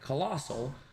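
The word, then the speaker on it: Colostle: Okay, pronounced like colossal.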